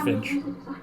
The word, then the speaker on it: Finch: Still just pronounced Finch.